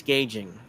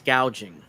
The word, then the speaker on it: gouging: No, it's not price gauging. It's price gouging.